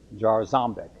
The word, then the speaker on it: Jarząbek: Elias, I would pronounce it like a Polish, Jarząbek. How do you say it? Say it again? Jarząbek.